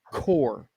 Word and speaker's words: Corps: And yes, I know that's spelled differently, but it's core.